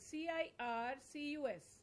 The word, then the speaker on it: circus: s circus that's right but this c is pronounced as the symbol and this is pronounced as this symbol this again is this so in a dictionary even without the teacher you can know what the how this c is going to be pronounced as sir and how this c is going to be pronounced as so this is also a